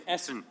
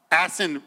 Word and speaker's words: Ahsan: And to my right is Ahsan. Did I screwed it up again? Oh, it's all good. Hold it. How to pronounce it again for me? It's Ahsan. Ahsan.